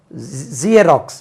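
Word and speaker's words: Xerox: z zebra zebra crossing ஜியராக்ஸ் நம்ம ஜிராக்ஸ் ஜெராக்ஸ் இல்லையா ஜியராக்ஸ் ஐ got photo start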